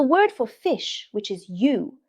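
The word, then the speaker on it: 鱼: Because the word for fish, which is yu, has the same pronunciation as the word for abundance.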